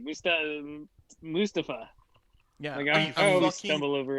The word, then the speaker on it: Mustafa: on a number of videos on social media mustapha is how it's pronounced and the reason he said mustafa was